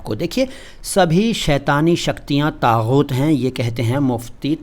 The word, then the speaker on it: طاغوت: سلام ہندوستان دوستو، طاغوت کسے کہتے ہیں جان لیجئے۔ طاغوت سب سے پہلے تو اس کا پروننسیشن یعنی تلفظ یعنی اچارن سیکھیے اگر نہیں آتا ہے